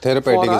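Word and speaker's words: Therapedic: थेरापेटिक इज the right pronunciation.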